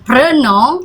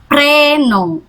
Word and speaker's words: prénom: Ya, karena ini ada aksen, jadi harus e-nya terbuka, bukan prénom tapi prénom, oke?